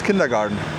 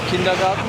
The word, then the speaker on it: kindergarten: Kindergarten? I thought the English people would say kindergarten with D, because it's a garden. I mean, they write it in the German way, so we can also pronounce it German, right?